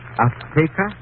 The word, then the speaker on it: Azteca: She said, how do you say in English, Azteca? Azteca. She gave the Z a TH sound. That's Castilian Spanish. Mexican or any Spanish American would say Azteca.